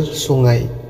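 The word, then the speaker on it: sungai: নদীকে বলা হয় সুঙ্গাই। সুঙ্গাই অনেকে ভুল করে উচ্চারণ ভুল করে বলে সুঙ্গাই, হ্যাঁ বিষয়টা এমন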